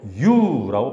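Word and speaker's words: εὖ: 잘되고는 헬라어로 유라고 발음합니다.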